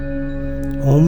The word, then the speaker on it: ओम: हुआ है ओम शब्द तीन ध्वनियों से बना हुआ है अ उ म इन तीनों ध्वनियों का